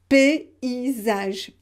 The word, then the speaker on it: paysage: Paysage. P, so you have the sound E, and after I, and after zage, paysage. Voilà.